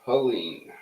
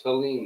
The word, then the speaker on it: Helene: Hurricane Helene. Not Helen, folks, it's Helene, the way it's spelled.